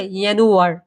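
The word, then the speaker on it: Januar: শিখব এটা জানুয়ারি মাস জানুয়ারি মাসকে কি বলে ইয়ানুয়ার ইয়ানারটা কি আমরা ইর অন্তস্থ এর মত উচ্চারিত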